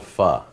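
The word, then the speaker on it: phở: it's a uh Vietnamese soup and it's called f and it's spelled pH with a little Accent on the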